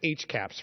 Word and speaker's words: HCAHPS: Hospital Consumer Survey of Healthcare Providers and Systems, pronounced HCAHPS for short.